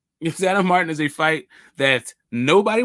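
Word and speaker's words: Sandor Martín: say with me smoke sandor Martin you gotta say that you gotta roll your RS roll your RS real quick say it like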